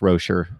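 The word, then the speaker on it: Rosier: I think it's very clear cut that it would be different if Malik Rozier, and I'll pronounce his name correctly, it's Rozier, but it's a hard habit to break.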